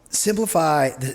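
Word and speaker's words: Cymplify: things with bands and festivals and stuff anyway simplify it's spelled cym cliffi right and the cym is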